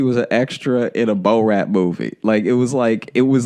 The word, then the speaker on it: Borat: Borat. Like Borat. Yeah. No, I get it now that you say it, but first you were like in that Bo Rat movie.